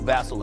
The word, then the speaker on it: Vassell: Vassell, and Fast Castle, Vassell, and Fox combined to shoot 36 and 1/2% shooting. Watching this game like Vassell. Is that how you pronounce it? Vassell? Vassell? Cuz it rhymes.